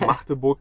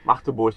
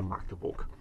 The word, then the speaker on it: Magdeburg: Das heißt nämlich, die sagen nicht Magdeburg oder ganz schlimm Magdeburg. Das ist völlig falsch. Das hat nichts mit der Markt zu tun. Magdeburg ist am besten oder Magdeburg. Betonung liegt auf Burg.